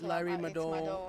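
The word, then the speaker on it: Larry Madowo: Yeah, it's Larry Mado, yeah.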